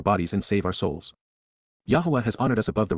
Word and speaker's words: Yahweh: Yahweh, Yahwa, the proper pronunciation of the name of Aloa, God as